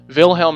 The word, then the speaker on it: Wilhelm: But Kaiser William, otherwise known as Kaiser Wilhelm, Wilhelm is how you pronounce it, if you're pronouncing it the way a German would, we would say William.